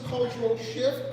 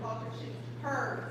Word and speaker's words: Culture Shift(hers): So, this week's presenters, Mhinda Williams, Cultural Shift, Culture Shift Unite. Am I saying it correctly? Culture shift hers.